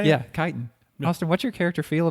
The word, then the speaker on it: chitin: Yeah, chitin.